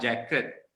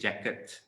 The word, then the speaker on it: jacket: Can you hear the t sound when I pronounce the words? It's not jacket, it's jacket. It's not locket, it's locket.